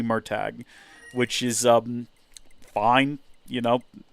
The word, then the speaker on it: Murtagh: It's Murtagh. I've always pronounced it Murtaugh, but the author is like, no, it's supposed to be Murtagh, which is fine.